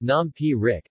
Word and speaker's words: nam phrik: ty nah Frick Xing pronounced nom P Rick is popular food in